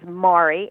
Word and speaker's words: Mari: she's her name is mari m-a-r-i pronounced like mari in tomorrow um which echoes the